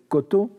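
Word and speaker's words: 곳: probable, entre le japonais koto et le coréen kot, n'est-ce pas, qui s'écrirait kos, mais qu'on prononce kot, et elle est tout à fait probable.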